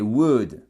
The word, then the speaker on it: would: toi et regardez ici c'est would on ne prononce pas le l on dit pas would